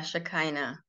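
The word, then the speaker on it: Shekinah: a crown of stars she is can you pronounce that for me is it shakana or sh yeah yeah shakina the Holy Spirit and the revealer of the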